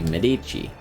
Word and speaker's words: Medici: the word Medici it it's just the natural way like it's a way that feels natural for me to say it um I'm pretty sure the official like Italian way to pronounce the name would be Medici um or something along those lines uh but yeah you